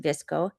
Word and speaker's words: VSCO: for a long time visco is VSCO but it's pronounced visco my dog's going to